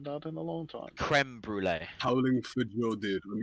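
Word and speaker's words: crème brûlée: Not sure it's pronounced cream brulee. I Whatever the haven't heard fuck it anything is. more British than that in a long time. Creme brulee.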